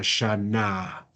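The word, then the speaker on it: שָׁנָה: leemos esto shana shana Recuerda que la g no la pronunci la no la pronunciamos s solo si no tiene el mapic Si tuviera el puntico acá en la mitad ahí sí pronunciaría G la G Al final es una G muda Simplemente nos sirve para hacer más larga la palabra shana bien Exacto Ese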